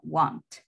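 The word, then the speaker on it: won't: forma corta se escribe want aquí está la pronunciación want want me' no es uno es no voy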